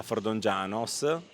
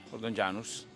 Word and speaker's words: Fordongianus: fa il lattoniere a Fordongianos o Fordongianus. Fordongianus con la U. Sempre ci si confe o ma si legge U.